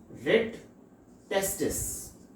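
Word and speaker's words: rete testis: ये इसकी स्पेलिंग है RETE, रेड टेस्टिस।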